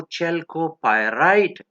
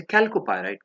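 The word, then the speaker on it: chalcopyrite: चेल्कोपायराइट जो है तो ये आप इसे कैल्कोपायराइट कह सकते हैं, प्रोनाउंसिएशन सही तो वही है, बहरहाल हम चेल्को कहते हैं।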